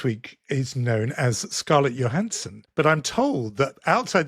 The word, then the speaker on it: Johansson: say any different because it's a Scandinavian name and you wouldn't say the J in that. So, so if you look at that name, it's Johansson.